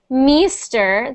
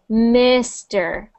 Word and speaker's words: Mister: So instead of meester, that's that I sound again. Mister, mister. Mister. Mister. Mister. Not meester, mister. Mister. So try doing this. Miss. Miss. MS. Not but MS. Miss. MS. Perfect. Now, Mr. Mister. Perfect. Perfect. So just be careful with that sound there, the I sound. Instead of making it sound like an E, you want to make sure it sounds like the I.